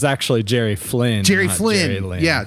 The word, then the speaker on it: Jerry Flynn: Jerry Lynn. Yeah. Say his name again. Oh, it's actually Jerry Flynn.